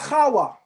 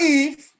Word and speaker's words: Hawa: Because the Bible says the first woman is called Hawa, not Eve, Hawa.